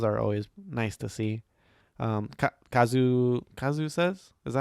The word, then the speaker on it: Kazusa: Kazu says, is that how you say her name?